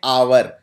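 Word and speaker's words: hour: क्योंकि आवर को बोलते हैं आवर। इसमें एच साइलेंट है।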